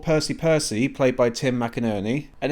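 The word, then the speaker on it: McInnerny: Then there's Lord Percy Percy played by Tim Mcernney. And if you're unsure about how to pronounce his name, just think of it of how Percy is played by Tim, Mack, and Ernie.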